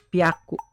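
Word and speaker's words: ぴゃく: Tapi kalau ketemu 3, 6, 8 perubahannya beda. Yang 3 jadi b, byaku. Ini kan hya jadi bya sekarang. Kalau yang 6 jadi p, pyaku. 8 jadi p juga pyaku.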